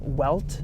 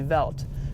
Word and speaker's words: Welt: BM v so BMW Welt you would say well tis world and it's not pronounced welt that's how we say it in the u.s. it's Jack it's actually veldt so they don't say